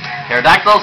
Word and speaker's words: Pterodactyl: Pterodactyl solves the silent T just like Psychic.